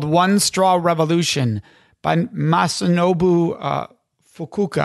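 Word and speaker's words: Masanobu Fukuoka: You recommend a book called One Straw Revolution by Masunobu Fukuoka, I believe is the pronunciation.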